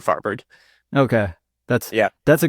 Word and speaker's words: Farvard: So I think like if you were to ask someone Persian what my last name is, it would be more like Farvard, but that's just like yeah, that's not how I say it. It's definitely not how people would say it correctly in English, so I just go with Farvard.